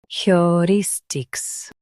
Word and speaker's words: heuristics: heu ris tics heuristics Emphasize ris and keep heu and tics light.